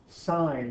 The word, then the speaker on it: sine: Even though it's spelled sin, it's pronounced sine.